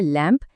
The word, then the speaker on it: lamb: ध्यान से सुना, आखिर में ब की आवाज बिल्कुल नहीं है। आइए कुछ और शब्दों से इस नियम को एकदम पक्का कर लेते हैं। LAMB है लैम्प, THUMB है थम।